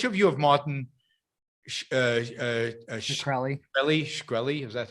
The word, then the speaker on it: Shkreli: Shkreli, is that how you pronounce it?